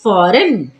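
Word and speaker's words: foreign: silent तो पढ़ेंगे sign फॉरन यहां पर भी जी जो है वो एन से पहले आया है तो जी होगा साइलेंट तो पढ़ेंगे फॉरन रिजाइन चलिए बढ़ते हैं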